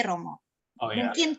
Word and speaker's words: rho: Kemudian berikutnya dari Pak Juwono, apakah arti PX atau X yang berhimpit dengan huruf P, Romo? Oh, ya. Mungkin 3 pertanyaan dulu ini, Romo. Ya, gampang dulu ya. Itu bacanya bukan PX itu.